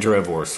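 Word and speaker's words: droëwors: So just like my name, the W is pronounced like a V because it's Afrikaans.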